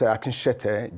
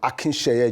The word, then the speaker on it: Akin: pronunciation of my name I'm not AK judge I'm Akin judge so my name is